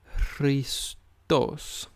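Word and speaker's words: Χρήστος: And it is Christos.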